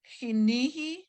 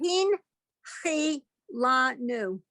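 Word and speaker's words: הנחלתנו: Remember that the first time you have those 5. 2 dots under a letter like that, you come to a dead stop. Mm. So it would be hin, Um, hin, chi, la, nu.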